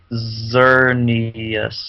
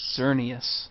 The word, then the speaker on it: Xerneas: And I found his pronunciation. It's Xerneas. Xerneas. Ah. Xerneas.